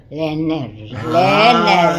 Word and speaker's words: Lerner: Lerner, isso. Finalmente Lerner. acertei. Mas agora estamos na sede da Academia Amparense de Letras, aqui no antigo conserva. Leiner, porque ele se escreve, mas se lê Leiner.